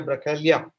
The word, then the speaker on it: Bracaglia: Bracaglia. I hope I am spelling the second name right, because G is silent in Italian, as I realize.